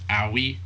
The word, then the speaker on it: Aoi: end his life but he found someone named Owie AOI like like the same one from Demon Slayer.